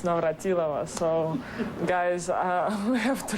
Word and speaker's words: Navratilova: So not Navratilova, by the way, it's Navratilova. So, guys, we have to learn all to pronounce this name because I'm terrible because I speak with all of you.